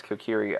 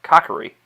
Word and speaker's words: Kokiri: her own Guardian fairy when I was a kid I used to pronounce Kokiri uh cockery however there is one boy who does not have a fairy I knew I was wrong Somewhere In My Heart